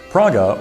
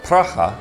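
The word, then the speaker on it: Praha: A relatively new company in the scheme of Czech brewing history, Praga, or Pracha, as I understand it's pronounced in Czech, I hope, was only founded in 2004.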